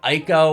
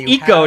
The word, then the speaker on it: Ico: an escort mission where That's Eco to you. You are right. I always say that wrong, so thank you. I said it wrong for like 10 years. Yeah, exactly. Someone at a convention corrected me. Yeah, no, and you are right. It is. It's Eco.